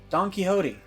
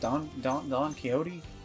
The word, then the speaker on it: Don Quixote: Don Quixote. That's how you pronounce his name? Don Quixote?